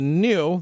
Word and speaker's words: GNU: The next one is called the new, that's how you pronounce it, electric kids.